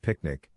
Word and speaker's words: PQNK: calls Peter Kraini Eashkari PQNK pronounced picnic which means sustainable natural